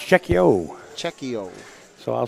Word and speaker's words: Cheqio: All right, we're about to get the official word on the correct pronunciation. It's Cheqio.